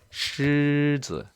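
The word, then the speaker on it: 狮子: 그래서 발음이 시즈. 얘도 경성이네요. 시즈. 그렇죠? 사자를 말할 때 시즈라고 합니다.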